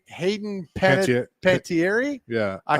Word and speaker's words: Panettiere: I can't pronounce her last name. Hayden Panettiere.